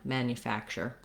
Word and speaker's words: manufacturer: little bit tense but generally it's going to be reduced to more of a yeah mania manufacturer because it's a reduced syllable it's not stressed and we're going to have that vowel schwa there notice though that the n-u combination here that we do have another sound before the vowel so even though there's